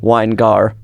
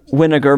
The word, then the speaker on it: Winegar: just really I mean I guess winegar makes sense wiar makes sense but it has a little speed bump in the middle wiar and wow yours is almost